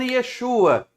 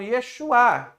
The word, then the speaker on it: Yeshua: Por que que eu não estou falando Yesua? Porque ele termina com H. Então, Yeshuá.